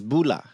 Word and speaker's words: bula: When I went to Fiji, the way you say hello and goodbye is bula. Bula. Bula. It's almost Bula.